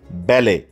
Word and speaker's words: ballet: 4 নম্বরে আছে ব্যালে, BALLET, যথারীতি টি উচ্চারিত হবে না, সুতরাং উচ্চারণটা হবে ব্যালে, এক জাতীয় নাচ, আ ব্যালে ডান্স।